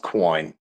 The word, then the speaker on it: Qwoyn: Yeah, that's pronounced Qwoyn.